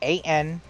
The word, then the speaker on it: Ananta: Well, how do you spell it? Ananta? A-N... Yeah, A-N-A-N-T-A. Ananta.